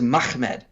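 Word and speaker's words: מחמד: Arabic and Syriac pronunciations the real real way you would pronounce this word is mahmed uh you would not add an additional syllable in there uh because there's not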